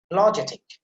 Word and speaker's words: apologetic: not the correct pronunciation, apologetic, see, ja sound there, you have to put some emphasis, and secondary stress is there before the pa sound, so apologetic.